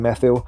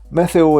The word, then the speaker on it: Methil: The crime rate is high in methyl. And ironically, in a place where the first syllable is meth, there are issues in